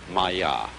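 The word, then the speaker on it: माया: this kind of thing is the sanskrit term maya i'm going to write that down for you pronounced maya and this word comes from a root in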